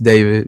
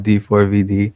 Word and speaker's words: D4vd: Um, pronounced David, not D4 VD.